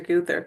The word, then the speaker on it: Gowther: for S sir guther excuse me guther spelled like this not intuitive spelling alas um and it should be Mets editions.